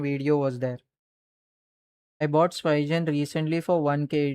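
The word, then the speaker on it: Spigen: Some pronounce it as Pigan. I say it's Spygen.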